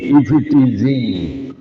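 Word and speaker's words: eve teasing: এটাকে ইফডিজিং বলা হয় উচ্চারণে স্ফিডিজিং কিন্তু বানালে ই ভি ই টি এস আই এন জি ইফ ইটিজিং উত্ত করা বকাদের উত্ত্যাক্ত করাকে ইংরেজি ভাষায় বলে ইফ ইটিজিং এখানে ইফতিজিং আজ থেকে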